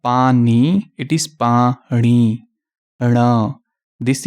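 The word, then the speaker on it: ਪਾਣੀ: What exists is Nanna, the sound of Nanna. So they say, which is wrong. Okay? So it is not Pani, it is Pani.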